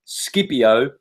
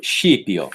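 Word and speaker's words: Scipio: the dream of shiio if you're Italian skipio for anyone else the dream of skipio properly pronounced shio now who was shio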